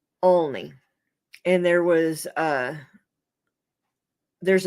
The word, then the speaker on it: Olney: way they're pronounced um it's Olney it's pronounced only and there was uh